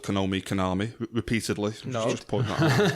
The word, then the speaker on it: Konami: Yeah, no, it's Konami. Konami.